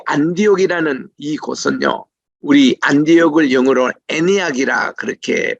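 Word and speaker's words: Antioch: 그렇게 크지가 않습니다이 안디옥이라는이 곳은요 우리 안디옥을 영어로 애니악이라 그렇게 발음을 합니다 처음에 제가 미국 유학 갔을 때에이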